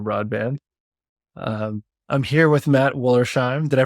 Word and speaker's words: Wollersheim: I'm here with Matt Wollersheim. Did I pronounce it right?